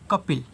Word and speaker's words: कपिल: के से होता है आपका क ए साइलेंट पी से प आई से छोटी ई की मात्रा एल से ल कपिल आगे देखिए एम ए